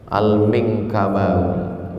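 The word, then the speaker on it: Al-Minangkabawi: Gimana cara membacanya? Al-Minkabawi.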